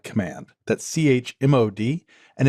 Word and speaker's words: chmod: permissions is using the chmod command. That's CHMOD, and it's short for change mode. So I guess you could also pronounce it as chmod if you prefer, but I call it chmod.